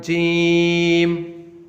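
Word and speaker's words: جيم: We pronounce it like Jim. Jim. And if we compare this letter with English alphabet, it sounds like J for jug.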